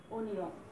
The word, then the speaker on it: অনিয়ম: না বোধক কথাটা আসছে, এই কারণে এটার উচ্চারণ হবে এরকম, অনিয়ম। এখানে স্বর অস্বর ওই থাকবে, এটার আর কোনো পরিবর্তন হবে না।